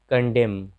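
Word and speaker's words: condemn: तो जब एम के बाद एन रहे तो एन का उच्चारण नहीं होता है, जैसे डैम, डैम का मतलब धिक्कारना। फिर कंडेम, कंडेम यानी चुगली करना, तो यहाँ भी देखिए।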